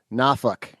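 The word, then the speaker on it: Norfolk: very close to the the Massachusetts version of that where they don't pronounce the R or the L. swords. Nafuk like nah [ __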